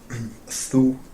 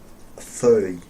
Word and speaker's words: þau: And if you wanted to say that they are right, and there's lots of them, Þú. No. Þau. exactly, beautifully pronounced and remembered.